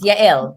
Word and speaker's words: Yael: Yael is how you pronounce it.